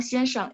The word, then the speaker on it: 先生: Teman-teman, kenapa kita bilang 先生? Itu pinginnya X-I-A-N ya, X-I-A-N S-H-E-N-G. Cuman memang bacanya A-nya jadi E, 先生.